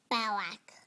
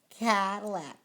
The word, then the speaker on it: Cadillac: Lilac. Cadillac.